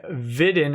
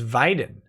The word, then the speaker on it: Weiden: hey Nick on Twitch you say Vidhan as Weiden correct I'm fightin 22 but here you pronounce it with a short I bad Nick oh yeah